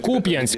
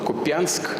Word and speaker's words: Куп'янськ: Куп'янськ, куди нещодавно приїжджав Володимир Зеленський. Путін твердить, Куп'янськ теж начебто контролюють росіяни, але навіть наголос невірно ставить. Под наш контроль уже несколько недель назад перешёл в город Купянск.